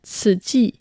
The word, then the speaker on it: Tzu Chi: la fondation Ts que l'on voit souvent orthographié Tzu U c I mais donc on prononce cela ti.